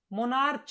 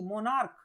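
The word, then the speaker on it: monarch: मोनार्च नहीं, मोनार्क, okay, C H last में सी एच है, ओके, लेकिन प्रोनाउंसिएशन क्या है? का, नॉट चा।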